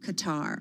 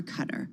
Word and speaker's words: Qatar: What do we really know about this luxury jet that may be a gift from Qatar or Qatar, whichever way you'd like to say it?